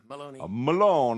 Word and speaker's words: Meloni: Yeah, Meloni.